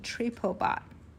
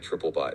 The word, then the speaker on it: TripoBot: You know, reading it, it did kind of sound like Triplebot in my head. But looking at the Triplebot pronunciation guide excerpts, you are absolutely right. So, it's Tripot with the emphasis on the trip, right?